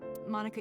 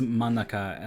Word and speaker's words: Monica: She says Monica like you would pronounce Monica like from Friends. Monica.